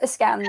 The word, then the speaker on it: Eskander: Yeah, just think Alexander Eskander. Eskander. Yeah. Okay, there you go. I'm just putting the wrong emphasis on the on the wrong syllable.